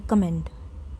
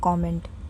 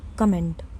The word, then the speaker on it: comment: Say comment, not comment, comment.